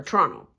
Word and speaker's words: Toronto: It is hard to be a Toronto sports fan, or Toronto. I said it properly for anybody who may not know that we have pronunciation issues.